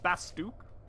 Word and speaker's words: Bastok: Kind of shook when I first heard Bastok pronounces Bastuk. That's wrong. That's... I refuse to believe that that's a correct pronunciation.